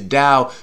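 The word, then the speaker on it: 道: The way is dao. Written, without the T. In Chinese pinyin is a D, because it's pronounced dao, right?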